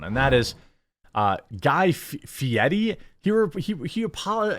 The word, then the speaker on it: Fieri: that is uh Guy Fieri he were he he apolog he pronounces it Fieri but it's just not fietti it's Fieri there's no t or d in it I don't care what